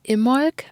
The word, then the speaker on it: Imbolc: I have been filming and recording and editing because it is Imbolc today. And I know, friends, some of you said that it is pronounced Imolc, I guess, because you said the B is silent.